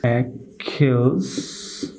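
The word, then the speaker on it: Achilles: উদাহরণ সমূহের মাধ্যমে বিষয়টুকু আপনাদের সাথে শেয়ার করছি অ্যাকিলস অ্যাকিলস অ্যাকর্ডিং ভিউয়ার্স আমি এখানে দুইটি উদাহরণ সময়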